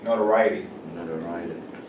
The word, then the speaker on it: notoriety: this one another variety not a writing like variety notoriety yeah uh so that's